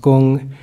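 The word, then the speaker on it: 工: So if you look on the right side, there's work, pronounced gung, and the word empty, pronounced kung.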